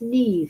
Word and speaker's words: Neve: I pronounced it wrong before. So it's Neve the name.